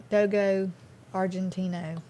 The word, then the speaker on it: Dogo Argentino: How do you pronounce that? Argentino? Dogo Argentino.